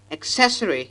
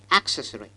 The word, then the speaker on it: accessory: not access accessory here the stress should be on the second syllable not on the first the first sound is a centralized short vowel so accessory is the right pronunciation and not accessory see this word a